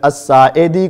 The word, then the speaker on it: الساعدی: بولنا نہ آتا ہو، تو اسی طرح آپ ابو حمید الساعدی کو سعدی سعدی سعدی سعدی کہتے ہیں۔ یہ اپنی اصلاح کیجئے